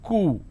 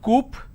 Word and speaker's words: coup: derivatives apartment disagreement dislodge c-o-u-p is coo it's not coop or cow it's cool isolation quarantine gesture lot